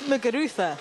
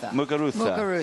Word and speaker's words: Muguruza: It's Muguruza. Yeah, he got it. He nailed it. Muguruza.